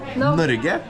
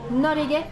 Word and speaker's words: Norge: Norge. Norge.